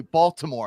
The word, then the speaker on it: Baltimore: So, I say Baltimore, I pronounce the T.